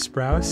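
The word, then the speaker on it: Sprouse: spr sprous um a I mispronounced their last name you kidding their name is sprous and B uh couldn't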